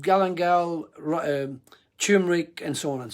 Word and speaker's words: galangal: what is galangal yeah it's actually not galingal it's galangal i'll spell it it's